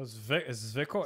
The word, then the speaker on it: Zwickl: Oh, Zwickl? It's Zwickl.